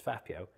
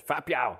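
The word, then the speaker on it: 发票: And the way they pronounce it is fa piao, fa piao. They say it quite aggressively.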